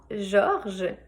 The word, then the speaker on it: Georges: divise en plusieurs langues il ya le prénom georges donc encore une fois un prénom avec beaucoup de lettres mais seulement une syllabe c'est un vieux prénom